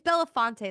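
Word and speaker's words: Belafonte: the whole thing with with Harry Bella it's Bella fonte that's how you say say his name right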